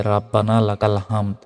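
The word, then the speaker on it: رَبَّنَا لَكَ الْحَمْدُ: আবার এটা বলতে হয় রব্বানা লাকাল হামদ আমরা অনেকেই ভুল উচ্চারণ করি বলি যে রাব্বানা লাকাল হামদ এটা ভুল হামদ নয়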